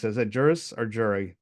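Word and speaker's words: juris: she has a jury jur how do you pronounce it is that jurus or jury jurus jurus okay I have an English major you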